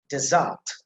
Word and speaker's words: desert: this screen, that is desert, desert. The emphasis on the first syllable, and that is der sound, so desert.